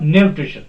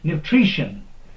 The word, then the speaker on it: nutrition: second from end here nutrition nutrition not nutrition that is wrong nutrition the stress will be put on tree this is second from end here revelation okay revelation